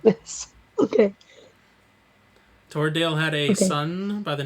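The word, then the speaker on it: Toredael: age lthio had two sons twins we had toradale which is t-o-r e d a e l torodale and his twin brother syphadale which is s-i-f-a-d-a-e-l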